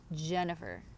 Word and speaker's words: Jennifer: People are always like Jennifer, like they like drag the J, like it's just like J, J.